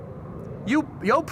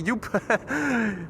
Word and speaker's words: Joop: Joop, goedemorgen. I was about to say Joep, but it's Joop. Joep would be how English speakers would say Joop if they didn't know how to pronounce the double O.